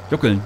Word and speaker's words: juckeln: ein wor noch mal wie wird das ausgesprochen jokeln jokeln jckeln keine Ahnung juckeln juckeln genau damit juckeln wir mal rüber juckel